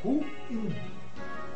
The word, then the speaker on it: ruim: O vocábulo em questão é oxítono. É ruim.